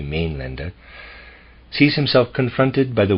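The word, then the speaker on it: Mainländer: loud n d r I'm pronouncing it m lender it might be main lender sees himself confronted by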